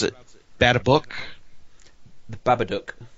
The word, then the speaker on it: Babadook: by copy of uh what how do you pronounce it bad a book the babadook babadook yes I've heard really good things about that